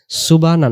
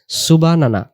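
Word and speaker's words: سبحان: আমরা বলে ফেলি অনেকেই সুবানা উচ্চারণ সুব সুব এমন কলকলা হবে সুব এরপরে হা যাব সুবহানা সুবহানা সুবহানা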